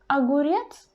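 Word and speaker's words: огурец: but it's really short and the word aguryet the first o is not under the stress but as it is the very beginning of the word we pronounce this ah longer and clearly than in the word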